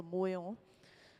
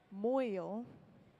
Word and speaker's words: moil: This area where the glass is physically, rounded out right on the end of the pipe, this is called the moil. Moil, oh my gosh, it's just saying boil in the closed captioning.